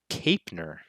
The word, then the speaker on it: Kapner: on kyle uh kyle kapner oh kyle kapner pronounced capener kyle capner very sorry kyle he's 29